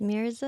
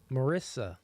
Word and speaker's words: Mirza: Marissa. Mirza. Marissa. Mirza. Misa. Mirza. Do I have to say it with like a Russian? Misa. No, you gotta roll your R.